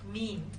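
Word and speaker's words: mesne: 20 000 to l now mean profit is pronounced mean mean profits main profits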